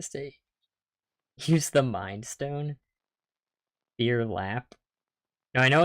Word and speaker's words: Phear Lap: Phear Lap, as in fear. Don't pronounce P or H heavily.